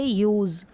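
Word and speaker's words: use: अब यहाँ पर एस जो है ना, इसको ज पढ़ रहे हैं, यूज़ नहीं पढ़ते, यूज़। तो एस के उच्चारण में आप ध्यान रखें, प्रैक्टिस करेंगे तो समझ में आ जाएगा, यूज़।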